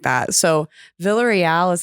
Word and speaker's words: Villarreal: do filipinos pronounce it filipinos pronounce the double l villa so it's vilia real wow yeah because there